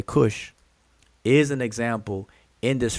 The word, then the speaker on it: Kush: Nobody says kushet. Nobody in the world pronounces kush as kushet, but it is feminine.